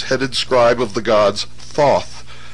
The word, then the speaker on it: Thoth: scribe of the gods Thoth pronounced taehu T the so-called Emerald